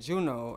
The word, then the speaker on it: Junio: And like everybody be saying, like, oh, you made the I silent. Yes, I made the fucking I silent. Okay. So it's J-U-N-I-O, but gotcha. The I is silent. All right. And when I was like Juno, I kept saying Juno,